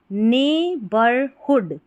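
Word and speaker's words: neighbourhood: ने ठीक है और यहां पर जी एच साइलेंट होता है एन इ आई जी एच पूरा ने बन गया क्योंकि कि जी एच नहीं पढ़ा जा रहा है।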